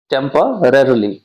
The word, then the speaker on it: temporarily: टेम्पररली, ये ध्यान से प्रोनाउंसिएशन करिएगा क्योंकि इसमें दो र का प्रयोग किया गया है, टेम्पररली, रेयरली। ठीक है, तो ध्यान से प्रोनाउंस कीजिएगा इसका।